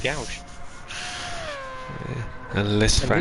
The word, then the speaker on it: gauche: I think it's gauche, but It's G-A-U, so I always call it gauche.